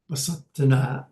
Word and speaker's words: Basadihnah: Okay, that's how you would pronounce it. Basadihnah.